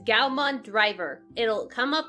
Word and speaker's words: Gaomon: go to google and you googled Galvan which is spelled right up here it's gal Mon driver it'll come up right to this page